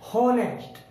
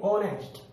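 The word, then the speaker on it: honest: ऑनेस्ट, अगर हम एच, अगर हमें नहीं पता है इसमें एच साइलेंट है तो हम इसे क्या पढ़ेंगे, होनेस्ट, होनेस्ट, और ये होगा गलत। हम एच का उच्चारण नहीं करेंगे, हम बोलेंगे ऑनेस्ट।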